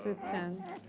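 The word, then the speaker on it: Ziqian: So the Q makes what sound? It looks like it's tsu, T-S-U, like in Japanese hiragana, like this. It looks like tsunami.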